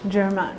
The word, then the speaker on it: Germain: of that, I'm going to mix some Saint Germain. It's another color by MAC only. It's like a really... Huh? Say this again. I'm going to Saint Germain. I'll sound. Okay, so Saint Germain. Germain, okay.